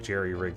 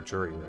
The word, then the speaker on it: jury-rig: Unless I like jerry-rig something in order to get a... Is it pronounced jerry-rig or jury-rig? I think it's jerry-rig.